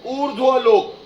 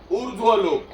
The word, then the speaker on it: ऊर्ध्वलोक: Universe is known as ऊर्ध्वलोक। ऊ आधा ध आधा र पूरा व, ऊर्ध्व। लिख पाओगे? ऊ आधा ध और व लिखने के बाद व के ऊपर रेफ कर दोगे तो उसका प्रोनाउंसिएशन होगा ऊर्ध्वलोक।